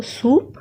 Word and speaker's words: soupe: Then है SOUPE, सो OU होगा ऊ, तो पूरा होगा सू और PE होगा प, सो सूप.